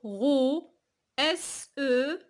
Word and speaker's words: rose: Pourquoi on a dit? Parce que S est entre deux voyelles. Il y a le O ici, il y a le E. Alors on ne va pas la prononcer S. On va la prononcer comment? Z.